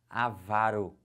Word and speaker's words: avaro: agora gravem agora comigo a pronúncia dessas paroxítonas já vão marcando assim ela vai aqui como é que fala isso avaro que que é avaro